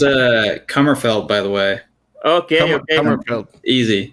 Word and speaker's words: Kummerfeldt: yeah i don't know who jason is it's pronounced uh cummerfeld by the way okay easy yeah easy across